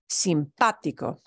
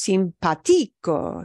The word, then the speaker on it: simpático: And that accent mark on the A, in that case, it's an A and not an O. That just means, oh, we just put a heavier punch on that vowel or in that syllable there, right? According to the rules, If I had no accent mark written on that word, it would be pronounced simpatico, simpatico. But we don't pronounce it that way.